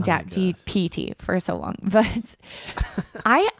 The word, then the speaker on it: GPT: I asked chat GTP. Is it TTP? I always I always say it wrong. I think I say GPT, but it's GTP.